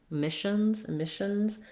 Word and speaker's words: emissions: And then letter S says the Z sound, because when a word ends with a voice consonant like n, when you make it plural, you put the Z on.